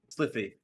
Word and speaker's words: Sylphie: But after that, our new friend Sliffa, how do you pronounce that? Sylphie.